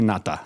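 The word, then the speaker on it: Ngata: Can you pronounce that last name one more time? Haloti Nata.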